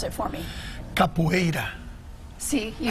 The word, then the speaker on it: Capoeira: Pronounce it for me. Capoeira.